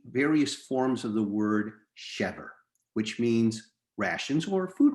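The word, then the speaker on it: שבר: So in fact, we could easily read this word shever with the letter shin as shever, or we could read the shin as a sin, pronouncing our word as sever, which is another word in Hebrew meaning hope.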